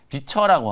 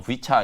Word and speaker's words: VCHA: 기대하고 있는 게 이제 비처라고 하는 VCHA 이게 참 교묘하게 이름 장명을 좀 잘한 것 같아요. 우리나라로는 이제 비처 이렇게 이제 발음을 하면 되고 그 미국식으로는 뭐 V차 이렇게 이제 발음하면 될 것 같은데 A2K 프로젝트라고 해가지고 미국